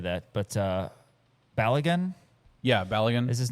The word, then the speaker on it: Balogun: Yeah, I don't know how to pronounce his name now that I say that, but Balogun Yeah, Balogun is his name.